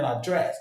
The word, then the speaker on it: address: Address the noun, address the verb. The same stress on the second syllable. Address. I will address him tomorrow. Give me your address. Not give me your address. In American English it's address for the noun and address for the verb.